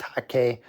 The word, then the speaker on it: hake: this is a large hake brush we call it a hake it's pronounced hockey this brush here you